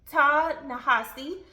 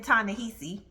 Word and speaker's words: Ta-Nehisi: I know I've been calling this man Ta-Nehisi, which I like it sounding like that, but I've heard his name pronounced by a couple journalists who he's interviewed with, and it's Ta-Nehisi.